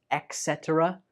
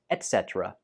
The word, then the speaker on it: etc.: when we're speaking, and it is pronounced as etc. etc. Some people use this as etc., but that's not correct. It's pronounced as etc.